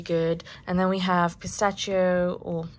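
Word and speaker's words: pistacchio: and then we have pistachio or I would also call it pistachio that's how you say it in Italian um and this is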